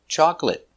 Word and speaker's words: chocolate: stop T chocolate chocolate remember two syllables chocolate not chocolate not three two chocolate stress is on the first syllable chocolate chocolate it's not